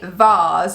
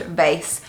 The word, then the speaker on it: vase: own one of so the first thing is a vars or i think in america it may be pronounced vase so something to put